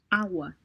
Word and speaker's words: agua: agua, Agua. All right, this is the soft G because G is located between two vowels. So you have A and U. So it's ow.